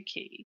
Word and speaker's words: quay: and explained to them that quay was actually key.